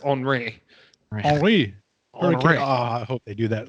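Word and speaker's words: Henri: we've had a henry before so yeah it's pronounced andre i hope they do that like i love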